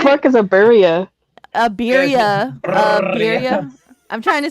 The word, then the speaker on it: birria: said burria. Is that how you pronounce What the it? fuck is a burria? A birria.